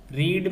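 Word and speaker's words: read: Should है तो should be, और रीड की थर्ड क्या हो गई, रेड, स्पेलिंग वही रहेगी, बोली रेड जाएगी।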